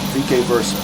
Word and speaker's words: vice versa: Classical Latin pronunciation, vice versa. I'm not entirely sure when the letter C first started being able to make the S sound.